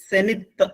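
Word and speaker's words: zenith: എച്ച് ഇസഡ് ഇ എൻ ഐ ടി എച്ച് അതിൻറെ ഉച്ചാരണം സെനിത്ത് എന്നാണ് സെനിത്ത് സനിത് എന്ന് പറഞ്ഞാൽ അത്യുച്ചനില അതായത് ഏറ്റവും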